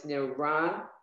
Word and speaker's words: Neranina: So now usually we said the Shva is silent in the middle of a word, but when there's two right. letters the same, like in Neranina, you have to say that Shva. So it's Neranina.